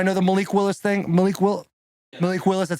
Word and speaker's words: Malik Willis: Malik Willis, that's how you say his name.